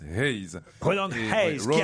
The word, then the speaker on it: Hayes: En fait, ça se prononce Hayes.